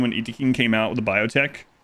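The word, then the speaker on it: Yttakin: And they told me that I mispronounced Itakin. But that's how the developers said that their made-up word is pronounced.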